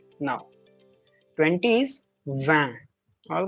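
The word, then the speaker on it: vingt: these nuff all right 20 is van all right it is not ranked whenever t is in the end never pronounce it until unless there is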